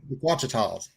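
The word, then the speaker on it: Ouachitas: Yeah, and so that last night the Wichitas. The Wachita. Wachita. Yeah. Whichever, however you say it. Michael, how do you say it? Wachita? Wachitas.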